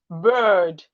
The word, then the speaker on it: bird: When we are pronouncing this word, we should pronounce it clearly. Bird, bird, bird. For the bird that flies in the sky, you drag it a bit. Bird, because of the R that is there.